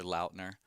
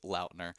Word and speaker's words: Lautner: Yeah, it's Taylor Lautner. Oh. Is how it's actually supposed to be. I remember some video of him actually explaining that it's Lautner and not Lautner.